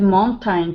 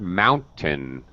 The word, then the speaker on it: mountain: Barbara, for the word mountain, okay, the first syllable gets stressed. The end of the word is just tn. It's an unstressed schwa sound. Just tn.